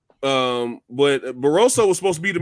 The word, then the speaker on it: Barroso: Rolly's fighting uh baros I think it's Ishmael barroso yeah they say his last name I don't want to butcher it oh you said it right um but barosso was supposed to be